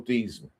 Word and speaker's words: Theismann: real name is, Joe Theismann. He changed his name to Theismann to rhyme with the Heisman when he thought he was going to win the Heisman Trophy.